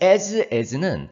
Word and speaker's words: as: 발음이 as입니다. 또 소리가 약하신 분들은 또 s 이렇게 읽는 분들도 있는데 as입니다. 자, 이 as는 as 사이에는 형용사나 부사를